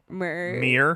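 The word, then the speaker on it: Muir: murr it's like m-u-i-r mer mirror i don't know i believe it's pronounced mere like mere woods wait i think northern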